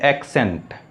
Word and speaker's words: accent: इसका प्रोनाउंसिएशन भी चेंज हो जाता है, इसकी प्रोनाउंसिएशन हो जाती है एक्सेंट।